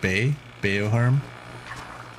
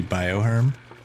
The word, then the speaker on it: bioherm: that not be pronounced B beoh Herm but the word is bio so that should be bioherm who does this we